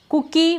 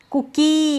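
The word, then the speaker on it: cookie: जैसे कुकी movie कुकी ऐसे नहीं बोल रहे मूवी लंबा नहीं बोल रहे हैं।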